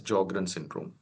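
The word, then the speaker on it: Sjögren syndrome: patient is join syndrome S is silent in these patients so we call it as jogrren syndrome and dry eyes are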